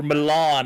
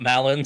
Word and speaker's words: Milan: like the campaign is over with Malin, or Milan, as the one French person that got really mad at my pronunciation told me that they are correct. That's the correct way of pronouncing it.